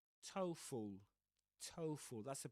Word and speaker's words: TOEFL: So, in this case, we say TOEFL TOEFL, that's the pronunciation of that one.